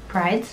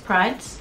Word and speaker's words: Prydz: I do know that there was definitely some Eric, how do you pronounce his last name in English? Prydz. Prydz, okay. How do you say in Swedish? Prydz.